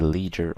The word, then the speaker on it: leisure: Obviously, depending on the pronunciation, you can say leisure or ledger. Both are correct.